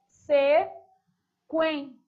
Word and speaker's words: sequência: Vou para a palavra sequência. Sequen. Observe que você pronuncia a letra U.